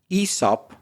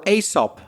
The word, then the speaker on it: Aesop: Who was Esop or Asop? I've heard both uh pronunciations.